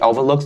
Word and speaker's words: overlook: is the k sound the k needs to be distinctly pronounced don't say over look